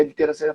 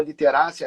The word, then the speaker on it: literacia: E depois a gente ainda vai conversar um pouco, literacia financeira, que eu lembro até que você falou literácia, as pessoas confundem a pronúncia dessa palavra, não é uma palavra obrigado.